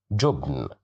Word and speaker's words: جبن: جبن, جبن, جبن, which means cheese. Here we have dhamma, so that's why we pronounce it as ju, jubn.